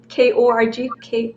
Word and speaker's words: KORG: It's called KORG.